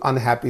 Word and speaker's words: unhappy: find all prefixes so when the prefixes are used in this way they only receive the stress okay in the examination when you are given this word for example unhappy is given and you